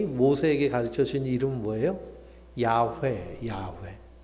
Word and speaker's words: 야훼: 그 이름, 히브리어로 하면, 읽으면 야훼입니다. 야훼. 그리고 구약 성경에 여호와 하나님이라고 기록되어 있잖아요. 여호와라는 이 말은 이 구약 성경을 독일어로 번역하는데요. 독일 사람들이 야훼 발음이 안 돼요.